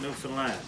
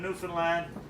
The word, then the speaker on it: Newfoundland: your visit dance in Newfoundland eight blue stairs also a beer and it is pronounced Newfoundland not Newfoundland New Zealand is the